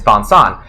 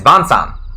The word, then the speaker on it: Vincent: Vincent and Su 2 Vincent is vonsan because he also has a French name which is like bons again sorry to all your French speakers I can't pronounce French stuff right but it's like it's like vonson and so so his Japanese name is is vonsan you know cuz it's supposed to be like the French name you know this one